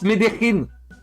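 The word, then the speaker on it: Medellín: Alors, est-ce que t'as Les une gens dans idée, le chat vous disent ça se prononce Medellin.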